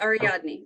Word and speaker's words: Ariadne: King Arthur's son's name is Anwil, and the daughter's name is Ariadne Pendragon. Did I pronounce that name correctly? Yes. Okay. Yes, Ariadne.